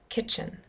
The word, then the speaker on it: kitchen: Kitchen, kitchen, kitchen. Again, it's the first syllable.